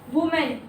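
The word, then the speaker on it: women: वुमेन, Woman. विमन। इसकी correct pronunciation क्या है? एक है तो वुमेन और ज्यादा है तो विमेन, ठीक है।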